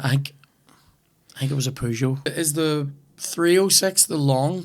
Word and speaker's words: Peugeot: I say pew, not poo, like.